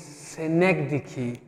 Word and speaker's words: synecdoche: will discuss metonymy and synecdoche how it is pronounced is synecdoche in a synecdoche and metonymy they are often